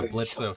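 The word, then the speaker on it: Blitzø: But yeah, Blitzo fits more. Blitz fits more. Blitzo. Blitzo. But that was silent. Blitzo, but the O is silent.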